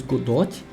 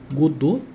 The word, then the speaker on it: Godot: que durante o vídeo eu acabei falando mais godot mas também tem bastante pessoas que pronunciam o nome da Game Engine como Godô e para mim é